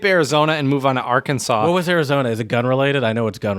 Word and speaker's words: Arkansas: kan msas which smells Arkansas but you say Arkansas you don't say the S it's really apparently so